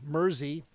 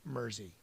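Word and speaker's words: Mersey: Mercy beat like Jersey Murzy. I I think it's pronounced Murzy because it's spelled like New Jersey. M E R S E Y. So I'm gonna say it's Jersey. Murzy.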